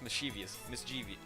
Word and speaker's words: mischievously: Then she laughs mischievously. I'm still pronouncing that wrong.